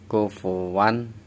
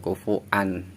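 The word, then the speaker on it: كُفُوًا: Wa sama an jadi wan. Kufuwan, jangan kufuan, karena yang berharokat ini huruf wawu. Kufuwan bukan kufuan ya, kufuwan ahad.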